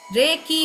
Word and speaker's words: Reiki: में बोलें तो रेखी, रेकी होता है ये, रेकी, इसे रेखी रेखी लोग बोलते हैं, लेकिन इसको सही जो होता है प्रोनाउंसिएशन इसका रेकी होता है।